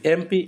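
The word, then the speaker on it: MP: is dash এমপি তো এমপি এম কিন্তু consonant consonant হলেও তার উচ্চারণটা কিরকম ভাবে হচ্ছে দেখো তার উচ্চারণ কিভাবে হচ্ছে এম মানটা যদি বাংলাতে লিখি তাহলে কি হবে এ ম এম এরকম করে হবে তাহলে প্রথমটা কি হবে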